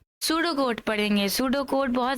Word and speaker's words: pseudo: सूडो code है इस यह जो पी है वह साइलेंट है और एस से हम लोग इसको पढ़ते हैं सूडो कोड तो सूडो कोड